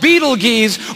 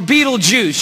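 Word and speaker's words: Betelgeuse: about this star it's called Beetle Gees or Beetle Juice you can pick your pronunciation I'm obviously going with Beetle Juice and Beetle Juice is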